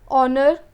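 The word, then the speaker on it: honour: Another example देख लेते हैं, आर, ऑनर, ऑनेस्ट, एयर। अब इन सब में क्या है, एच जो है वो साइलेंट है और ओ या फिर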